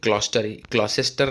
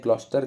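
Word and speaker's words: Gloucester: तो देखिए इसमें है ग्लॉसेस्टर लिखा है, इसका एक्चुअल प्रोनाउंसिएशन ग्लॉस्टर होता है।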